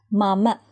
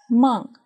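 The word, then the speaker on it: මම: Mama, mama. This can mean I or me. Sometimes we pronounce this word as mung, mung.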